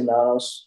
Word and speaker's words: Nanos: but uh if a quick question am I pronouncing your last name correctly Nanos you can say Manos or Manos I say Manos uh okay but um if you're Latvian that's